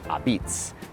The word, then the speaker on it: apizza: But first, why is it pronounced abitz? In Naples, Italy, la pizza is shortened to a pizza in the local Neapolitan dialect.